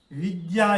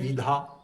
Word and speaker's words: विद्या: विद्या एक शब्द है। इसको बहुत लोग पढ़ते हैं विधा।